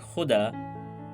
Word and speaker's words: khuda: The difference in meaning is because of the difference between the pronunciation of kha and ka. Muhammad Rafi, Lata Mangeshkar, Kishore Kumar, with their different linguistic backgrounds, pronounced the word khuda like it is done in Urdu.